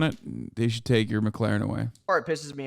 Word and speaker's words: McLaren: they should take your McLaren away or it pisses me off because he says the name wrong like eight times in a row it's not McLaren it's McLaren Okay so okay we're moving